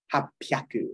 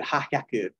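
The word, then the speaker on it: 八百: So you go from 700, nanahyaku, to 800, hapyaku. It's a P now, because it's like, who said hahyaku? What, are you laughing? You know, ha ha ha ha. Just they change it for ease of pronunciation.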